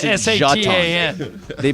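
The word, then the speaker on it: Šatan: Jeton. They pronounced it Jeton.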